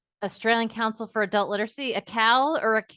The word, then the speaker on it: ACAL: council for adult literacy a cow or a how do you say the uh acronym a cow a cal sorry so a cal if you would please